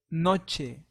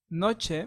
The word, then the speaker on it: noche: that means Mont so letter n in Spanish sounds like any very similar to M.A just as in net so an example is the word nache Noche Noche means night so remember